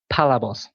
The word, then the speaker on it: Palabos: I pronounce it Palabos. Palabos. So with the emphasis on the first part of the word.